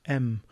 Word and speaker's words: em: And in fact, I didn't mention this before, but it gets its name from a capital M. So you pronounce this M because it's the size of the capital M for the font, and I've got it set at 1.5.